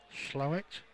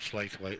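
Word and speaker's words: Slaithwaite: bit rough there now by the way pronounce slow it slow it is that how it's pronounced Andy slow it so not SL weight then why don't you just write it as slow it then you know what I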